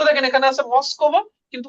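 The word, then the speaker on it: Москва: তো আবার মস্কোভা, তো মাস্কাভা। তো এটার উচ্চারণ কিন্তু কিন্তু আমাদের কি হয়? মাস্কাভা, মাস্কাভা, মাস্কাভা, মস্কোভা না মাস্কাভা।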